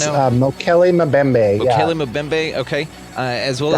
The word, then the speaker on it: Mokele Mbembe: A few things in here we didn't even touch on is the Mokele Pimbe. How do you say that? The I African think it's dino? Mokele Mbembe.